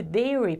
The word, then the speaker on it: dairy: No caso de dairy, por exemplo, você poderia escrever dessa forma aqui, dairy. Dica de pronúncia: em inglês não há o som do R, como no português. O R tem som de R.